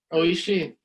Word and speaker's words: Oishi: Oishi. Oishi. Oh, that's right. Yeah, because Japanese you pronounce every single letter.